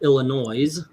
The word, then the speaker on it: Illinois: It's been snowing nonstop here in Illinois. By the way, that is the proper way of saying it. You guys in Chicago have been saying it wrong forever.